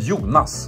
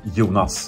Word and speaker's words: Jonas: We spell it with one O, or we pronounce it with the long O, so Jonas. But like internationally, it would be like Jonas, I guess.